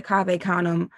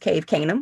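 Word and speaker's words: Cave Canem: in 99 at the cave kum uh fellowship which thank you for saying it correctly cuz I always thought it was pronounced cave kanuman. I was like oh that's how you say that.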